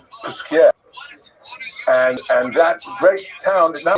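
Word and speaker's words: Posquières: yeshivas, and in Jewishly, we call it Paskvert. But Paskvert is somewhere in Lita, that's in Lithuania, not the real correct pronunciation. So it's Puskier.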